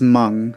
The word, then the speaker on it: Meng: Why don't they write Mung instead of Mang if it's pronounced Mung?